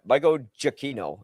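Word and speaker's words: Giacchino: Do you mean Michael Gotino? Yeah. Yeah. Michael Jakino is how you say his name.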